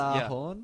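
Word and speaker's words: Gjallarhorn: It's pronounced... Galahorn? Yeah, that's right. Galahorn? Yep. Galahorn.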